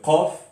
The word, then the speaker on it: قاف: Tandis que qaf, on ne le touche pas du tout, parce que justement c'est au plus profond de la gorge.